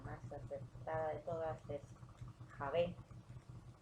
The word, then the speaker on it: Yahvé: acertada de todas es Javé. En la pronunciación hebrea se escucha mucho la pronunciación de la J, ¿no? Jaj. Mehusel, Javet, Shavet, aunque muchos hablan de Jehová, pero es una fusión entre Señor y Hak.